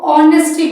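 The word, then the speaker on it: honesty: Next ऑनेस्टी सी एच यहां पे ये जो एच है ये साइलेंट है। इसको ऑनेस्टी बोलते हैं।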